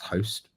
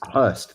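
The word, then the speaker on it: Høst: I think it's pronounced Host. It's Hurst. Hurst. There you go.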